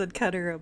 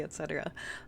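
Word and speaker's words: et cetera: I know it's pronounced Ketera, but I'll still say etc.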